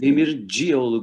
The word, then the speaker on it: Demircioğlu: Demircioğlu, comme s'il y avait deux O.